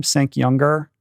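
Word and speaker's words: Cenk Uygur: Cenk Younger, the main guy on the Young Turks.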